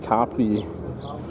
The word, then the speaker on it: Capri: In German, we are, by the way, pronouncing it Capri.